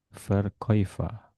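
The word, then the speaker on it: Verkäufer: Nah, ini juga berubah ini A umlot ditambah u jadi oi ya. Verkoiva penjual laki-laki, penjual perempuan periferin ini juga normal ya.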